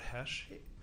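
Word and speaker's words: Hoesch: could start by stating your full name and spell it out for us my name is Hesh r-o-b-e-r-t-h-o-e-s-c-h doctor nice to see you what what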